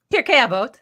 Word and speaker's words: Pirkei Avot: Tell us what Pirkei Avot. Mm-hmm. How bad did I say it? Pirkei Avot.